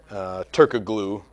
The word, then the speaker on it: Turkoglu: Turkoglu, as it's spelled.